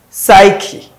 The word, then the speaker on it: psyche: So of course we have photo, psyche, the P is silent, coup, you call it coup, not coup, coup, the P is silent as well.